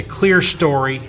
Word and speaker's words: clerestory: In Michigan we say clear story, but it's spelled clerestory.